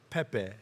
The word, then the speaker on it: Pepe: I was trying to figure out the pronunciation earlier, but you guys corrected me. It's Pepe. Yeah, we call it Pepe.